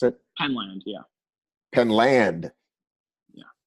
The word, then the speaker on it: Penland: We've all been saying, I assume that's how you pronounce it. Penland, yeah, Penland, yeah, not Penland, Penland, yeah.